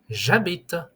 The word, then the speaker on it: j'habite: Je habite will become j'habite. J'habite.